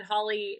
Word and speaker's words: Holley: And then Holley is Holley, so don't forget the tricky little silent E in there.